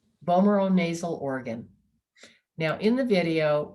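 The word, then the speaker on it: vomeronasal: the last part of the word is zul vomero nasal bomero nasal organ now in the video we learned that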